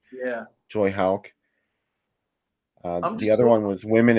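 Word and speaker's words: Houck: Is that how you pronounce his last name? Yeah. Joy Hauk.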